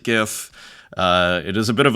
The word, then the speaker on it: GIF: it's its own format, GIF. Some people pronounce it GIF, I pronounce it GIF.